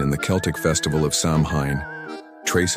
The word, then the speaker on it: Samhain: This was Samhain, pronounced Samhain, the festival that marked the end of the harvest and the beginning of winter.